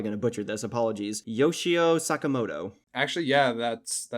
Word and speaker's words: Yoshio Sakamoto: by, I'm probably going to butcher this, apologies, Yoshio Sakamoto.